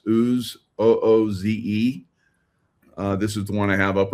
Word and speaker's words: Ooze: There's lots of brands out there, so we're not promoting a particular brand, but this pronounced Ooze, OOZE.